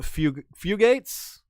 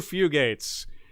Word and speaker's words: Fugates: who sent us a link to the blue fugates i say that right yeah fugate the blue fugates uh look up the blue few gates it's